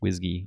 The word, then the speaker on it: WSGI: and when I'm saying whiskey I'm saying wsgi just pronounced whiskey almost like whiskey but with the G sound um so it's expected